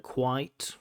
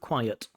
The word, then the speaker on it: quiet: Again, it sounds like he's pronouncing it with one syllable, like quite, quiet, but it should be two, quiet.